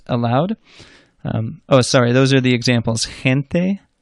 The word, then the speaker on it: gente: A soft G is like a Spanish J, which we said earlier is like an English H, so that h sound. That's when it's followed by a weak vowel, E or I, as in je or he.